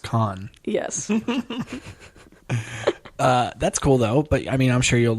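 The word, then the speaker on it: Cannes: you know is that it's pronounced con yes that's cool though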